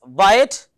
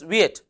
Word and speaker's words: Wyatt: is Sir Thomas weird few say his name as Sir Thomas Wyatt if you say Sir Thomas Viet both are correct the next question is